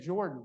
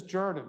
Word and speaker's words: Jordan: is is that well where I came from in New Jersey we said Jordan but this is Jordan so make sure you